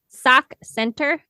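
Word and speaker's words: Sauk Centre: way away from you sock Center sock Center Minnesota s a u k s k yeah sock Cent they spell it they spell it fancy yeah Cent so a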